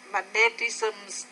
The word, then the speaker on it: magnetism: Another relationship between electricity and magnetism is I would say magnetism. Magnetism. Stress on the first syllable.